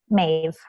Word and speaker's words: Maebh: So the Celtic spelling of Maeve is the B and the H make the V sound. So with two T's, Maeve, M-A-E-B-H.